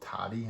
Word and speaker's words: Tody: really wonderful app called, I guess you call it Tody. I'm not really sure how you pronounce it. It's kind of like Today, but without the A.